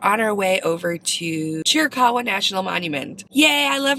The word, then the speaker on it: Chiricahua: So if you find yourself wanting to visit the Chiricahua National Monument, that's how you pronounce it, it's a free entrance park for